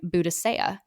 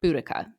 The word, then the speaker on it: Boudicca: fact about my namesake while some scholars pronounce the name buddhisa others prefer boudicca my peers thought a